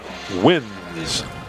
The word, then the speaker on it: Wines: Caleb wins with the stop. Spelled like the drink wines, but pronounced win. W-I-N-E-S.